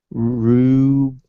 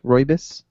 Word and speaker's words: rooibos: It is, I believe it's pronounced rooibos, Roobous, rooibos, and it's like this red tea, and it's really good.